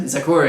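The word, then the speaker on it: Zecora: Zakura, yeah.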